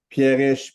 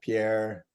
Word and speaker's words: Pierrich: Pierrich, Pierre.